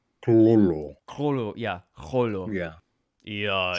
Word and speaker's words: Cthulhu: Yeah, Cthulhu. The C and the T are pronounced at the same time. Cthulhu.